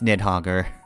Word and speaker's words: Nidhogg: It's Nidhogger, or Nidhogger. I'm pronouncing that O too much, but anyway, yeah, no.